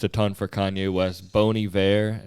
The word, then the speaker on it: Bon Iver: ton for kanye west boney bear it's spelled bon iver yeah yeah hell yeah